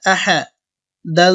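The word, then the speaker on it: أحد: আ হা জবর হা আহা দাল দুই পেশ দুন আহাদুন অকফের সময় দাল সাকিন হবে এবং সাকিন হলে দাল কলকলা হবে আহাদে উচ্চারণ হবে আহাদ আমরা আয়াতটা সম্পূর্ণ একসাথে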